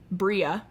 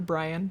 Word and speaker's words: Bria: to use my name Bria that's how you pronounce it Bri nice uh she her often mistaken for Brian but sometimes it be